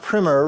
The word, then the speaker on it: primer: the preface we already talked about that it's pronounced primer right so it's a primer on sound pedagogy